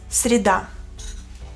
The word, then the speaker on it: среда: Мьеркулес en ruso es среда. Así se escribe en ruso. Среда. Среда. Да. Среда. También R es suave. Среда. Р, р. Con una sonrisa.